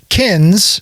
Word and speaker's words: Kinz: Um, so kins and that's spelled k i n z. And that's kind of like you're my kin.